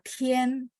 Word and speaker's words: 天: Tian pakai th. 所以同学们很抱歉, sorry banget ya. Kadang-kadang saya agak ketat pronunciation kurang h, saya minta ulang supaya teman-teman benar-benar pronunciation-nya pas dan benar. Karena kalau beda pronunciation, beda arti.